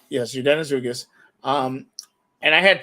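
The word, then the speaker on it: Yordenis Ugás: I didn't know that until I cannot pronounce his first name. Ugas was his last name. Yordenis Ugas. Yes, Yordenis Ugas.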